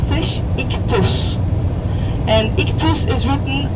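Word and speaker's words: ἰχθύς: Fish is sacred in Christianity, and in Greek language they call fish iktus, and iktus is written I, X, theta, sigma, and Y.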